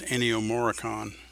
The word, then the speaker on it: Ennio Morricone: The guy who did its name was Ennio Morricone, Well, yeah, that's how his name is pronounced.